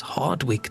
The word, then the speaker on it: Hardwick: Okay, so the tower is Hardwick Tower. Is there a I don't know if you pronounce the W. You don't pronounce a W and it sounds just